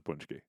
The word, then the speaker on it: paczki: soufgagnotte that's nearly as good as a poonch-kee.